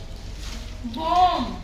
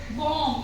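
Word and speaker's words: bomb: है फर एपल है जैसे बम बी एम बी बोम इसको हम बोलेंगे बोम ऐसे बोलेंगे अब यहां हमने ब का यूज नहीं किया क्योंकि ब हमारा यहां पर साइलेंट है एम के बाद और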